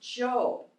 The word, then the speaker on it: Job: a job well actually it looks like its job but it's pronounced Joe it's about a man